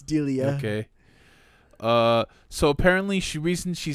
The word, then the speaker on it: Delia: I've always pronounced it Delilah. I don't know. It's Delia.